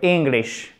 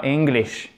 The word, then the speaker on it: English: Your English, et pas English, mais English, I court, ok? Accent tonique sur la première syllabe.